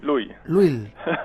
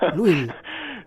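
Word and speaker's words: Lull: no lo digo bien Luis Lu Lil Lil sí por ahí en en Madrid soléis decir lul o cosas así pero es un poco difícil es PR nosotros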